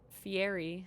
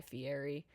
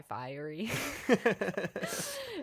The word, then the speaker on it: Fieri: a little over Guy Fieri because I always used to pronounce it Guy Fiery. And so I had to remind myself which one was the correct pronunciation.